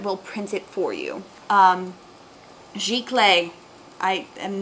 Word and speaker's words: giclée: It's pronounced Giclée.